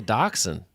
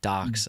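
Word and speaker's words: Dachshund: that is that's a Doxon yeah why do we say it like Doxon doesn't it spell like dashound everyone says daxon ducken like Tucson looks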